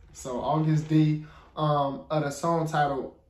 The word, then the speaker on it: Agust: say that name August D y'all say it's pronounced August so August the um other song titled he gium I